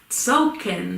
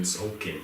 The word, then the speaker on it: Tzolk'in: I got Tzolk'in. Tzolk'in, the Mayan calendar. That is spelled T.